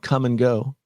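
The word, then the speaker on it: Kum & Go: And then I think the largest chain of gas stations in Iowa is called Come and Go.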